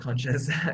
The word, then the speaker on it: CNSCS: her campus chairperson and CNSCS, pronounced conscious, co-creator Stella Hertanyato.